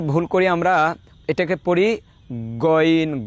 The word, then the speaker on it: গইন: যেমন গইন হরফটা হলকের শেষ হইতে উচ্চারণ হয় গইন গইন গ গ,